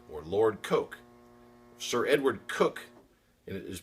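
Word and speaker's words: Coke: like judge kooch or Lord KO sir Edward cook and it is pronounced cook was a jurist of the English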